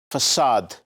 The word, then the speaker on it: facade: Facade. Please note the pronunciation of this thing. This is facade.